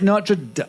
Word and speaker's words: Notre Dame: It's Notre Dame.